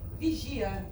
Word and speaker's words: vigia: So vigia actually is how we pronounce this word. As you know, if you don't know, you're going to know now. I'm from Brazil. I speak Portuguese. That comes from a Latin language.